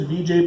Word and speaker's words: Vijay: well my name is Vijay oh yeah how do you spell that and I say Vijay Vijay just like you think very Vijay with